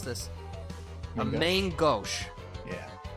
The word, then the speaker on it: main gauche: A main gauche. Yeah. It's like mango, Yeah. like gauche.